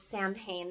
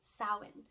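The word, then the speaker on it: Samhain: a lot of people refer to it as Sam pain that is an incorrect pronunciation the Celtic pronunciation of this holiday is sowin sawhen is our last and final Harvest holiday of the year and Sawan is where we would take and and look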